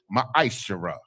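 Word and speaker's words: מעשר: 8 8 through 10 means 10th in the hebrew and it's pronounced ma shara 10 of every penny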